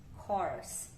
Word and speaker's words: course: Tem um Uzinho aqui, mas a gente não pronuncia ele não. Então, a gente fala O, course.